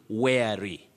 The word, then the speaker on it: wary: The first word, that is the upper word, many people find themselves mispronouncing it as worry, which is wrong. You say wary, wary.